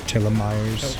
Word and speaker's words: telomeres: Alright, I think it's pronounced telomeres.